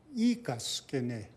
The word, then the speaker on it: Ikaskine: Your Blackfoot name is Ikaskini? Ikaskine. Ikaskine. Ikaskine, and it translates as lowhorn, you know.